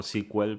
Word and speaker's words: SQL: sequel y después sql no que sql lo pronuncian como sequel pero no noora lenguaje del que parte no